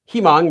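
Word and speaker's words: 희망: So here we have a himang, my moderator. Himang is a Korean word, means hope. Notice it's pronounced he mang, even though it's written as huimang, because saying huimang would be really difficult.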